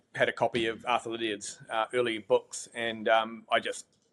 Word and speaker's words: Lydiard: Lydiard. Tongue twister. Yeah, Lydiard.